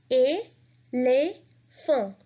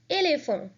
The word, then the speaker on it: éléphant: Now again, there are 2 accents on 2 E's. So the pronunciation will be éléphant, éléphant.